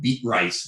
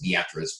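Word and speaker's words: Beatrice: low pressure here I like to call it beet rice it's actually pronounced the actress but if you would make someone from Nebraska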